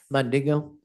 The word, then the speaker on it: Mandingo: And we have identified that as um I hope I'm pronouncing this correct. Is it Mandingo? Yes. Mandingo.